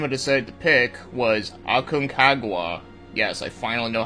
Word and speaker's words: Aconcagua: So the game I decided to pick was Aconcagua.